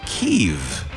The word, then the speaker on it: Kiev: It's pronounced kev.